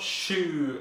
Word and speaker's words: choux: Not shoe as in your foot shoe, and it's not spelled like that either.